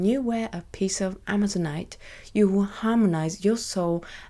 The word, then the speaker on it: amazonite: dried and this is amazonite you have to bear with me you might have noticed I have a problem pronouncing amazonite I sometimes pronounce it as a Mazur night not sure why that